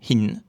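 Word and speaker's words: หิน: Par exemple, le mot hin qui signifie une pierre. H est de classe haute. La syllabe se termine par N, donc elle est vivante. Résultat, on a un ton montant. Hin.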